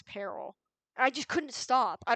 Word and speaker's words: Peril: pronoun I mispronounced it no I mispronounced Peril oh my gosh when I was reading book one I always read it as Pearl even though I knew it was Peril I just couldn't stop